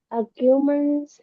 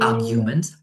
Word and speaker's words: arguments: Uh in my opinion, in my opinion, uh arguments happens between not arguments, arguments. The first syllable arguments.